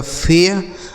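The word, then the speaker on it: fair: लेकिन AI के बाद अगर R लिखा हो तो इसी AI का उच्चारण हमें एया कर देना है।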